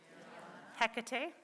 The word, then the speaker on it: Hecate: So before we begin, I'll give you the quick pronunciation lesson. Isis, Astarte, Diana, Hecate, Demeter, Kali, Inanna.